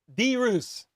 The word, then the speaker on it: Deus: just struggle reading them my last name is Deus dude Deus two syllables hippie with the five